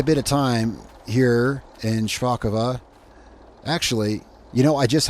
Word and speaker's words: Szpakowo: actually he said uh he said that I was correct if I was using Russian but uh it's polish I commented back and I said yeah actually I don't know how to pronounce polish so yeah so apparently it's shako all right so I